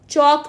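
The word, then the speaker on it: chalk: ई silent हो गया चौक में एल सा साइलेंट है तो हम टॉक में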